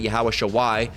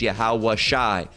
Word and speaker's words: Yahweh Shai: It's not Yahweh Shawai. That's just the signifying how it's pronounced at the end. It's Yahweh Shai.